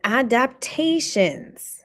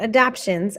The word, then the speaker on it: adaptations: And then adaptations, not adoptions, adaptations. People forget the middle syllable for some reason. I don't know why.